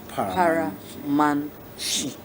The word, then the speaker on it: Paramanchi: Paramanchi, pronounced Paramanchi.